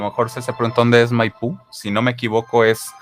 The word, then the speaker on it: Maipú: Corrígeme, Nat, si me equivoco, pero bueno, según entiendo, Maipú, que se escribe tal cual así, con acento en la U, es en las periferias de la capital chilena.